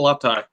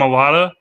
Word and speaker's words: Mailata: I'm going to say Jordan Malatai.